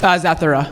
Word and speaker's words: Zathura: I heard that, I always forget how to pronounce it. How do you say that in the space one? Zathura.